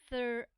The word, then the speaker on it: thrive: Thrive, thrive, thrive. Remember, this is vowel. V is consonant and E. E is silent and the vowel takes the long vowel sound which is I. So that's thrive, thrive.